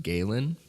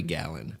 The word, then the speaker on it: Galen: I think it's pronounced Galen he was also a Greek philosopher don't laugh that's his name it might be Galan I think it's Galen though okay he was also